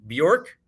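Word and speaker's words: Björk: Bjork.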